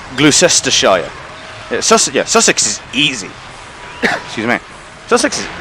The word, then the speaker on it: Sussex: is because if when you write them down like s-u-s-s-e-x sussex like an american would pronounce that sue sex and no no sussex you say it real quick oh yeah what about